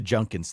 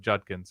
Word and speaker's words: Judkins: j j instead of Judkins yeah he says junkins I double check the pronunciation guide on the Ohio state official football website and they don't have anything that says you should say it junkins okay so Herby calls